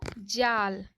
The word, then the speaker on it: जाल: तो जाल, देखिए जाल बोलने में अधिक थोड़ा सा समय लगा ना, अ के उच्चारण के से थोड़ा सा ज़्यादा आ के उच्चारण में समय लगा।